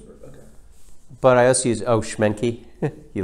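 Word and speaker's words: Schmincke: But I also use Schmencke. You like that? Oh, yeah. By Mussini. How do you pronounce? S C H M I N C K E or something like that. Schmencke.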